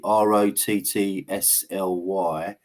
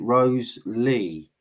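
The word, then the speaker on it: Wriothesley: She says it's pronounced Wrottesley, Rottsly, but we also have Dr. John Hart with us, and he has said you pronounce it Rose-Lee.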